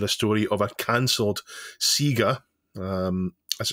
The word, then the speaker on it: Sega: Local has submitted a story of a cancelled Sega, as it's pronounced correctly, and Jackson tie-in, Scramble Training.